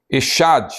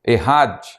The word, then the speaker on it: Echad: Não é o caso do termo Echad ou Errad. A pronúncia varia em alguns, de acordo com alguns livros teológicos e comentários exegéticos.